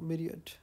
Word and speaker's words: myriad: my right my right let's see how this is pronounced media yes I always pronounce this word wrong myriad uh going through the